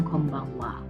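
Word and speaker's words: こんばんは: hiragana cough-en Baben wakwakwak disini juga sama seperti Konnichiwa Wayan dituliskan bukan wak ada deretan wawo and tetapi pada deretan khaiya tulisannya memang home banghak tapi dibacanya Kombang Wa yg begitu Oh iya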